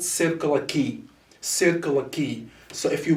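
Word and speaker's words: Circular Quay: there's an area in australia that is called circular key circular key so if you google this area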